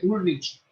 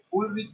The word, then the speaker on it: Ulrich: pensador alemán, Ulrich Beck, se escribe Ulrich, pero la ch en alemán es suena como K, que se llama Pensar globalmente y actuar localmente.